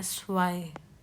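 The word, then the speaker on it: zwei: When there is इआई जब भी इआई होगा तो हम उसको आई की तरह प्रोनाउंस करेंगे। जैसे कि स्वाई इसमें जेड डब्ल्यू ई आई तो हम इसको प्रोनाउंस कर रहे हैं स्वय तो जो इ आई है वो आई की तरह प्रोनाउंस हो रहा है और नेक्स्ट है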